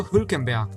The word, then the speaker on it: Hülkenberg: To finish off with the standing drivers, we have Nico Hülkenberg, yes, that's how you pronounce it, who finished 17th in the standing, although he only raced twice this year.